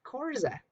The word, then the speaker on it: Korza: and a black boy named Korza, which, if you were English, you couldn't make that clicking sound. It was just pronounced Korza.